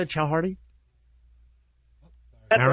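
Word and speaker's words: Chaudhary: Is that how you say it, Chowdhury?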